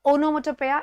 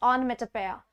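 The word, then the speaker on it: onomatopoeia: ओनोमेटोपेया ये नया है, इट्स नॉट ओनोमेटोपेया, इट्स ऑनमेटोपेया।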